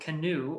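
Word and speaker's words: Canoo: an electric company called canoe or if the the car might be called canoe like spellback canoe like paddle well no it's spelled c-a-n-o-o and it's actually taking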